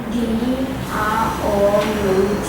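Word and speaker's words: drought: this word together not enough rain causes causes spell it part for us how to spell drop d r o u t h and we all read this word as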